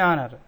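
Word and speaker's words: honour: सही सोचा आपने, एन ऑनर, एच साइलेंट है यहाँ पर।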